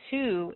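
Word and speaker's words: Htoo: So the name Too, H-T-O-O, we do not pronounce the H when we say it.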